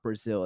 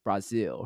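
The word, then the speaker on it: Brasil: sow and then it's also not Brazil It's Brazil right so I try to say it as close to like the Portuguese pronunciation as possible because again there's gonna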